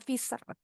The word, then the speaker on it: fisherman: The fisherman sedikit lagi nih tadi bunyi sh-nya kurang sh bunyinya fisher.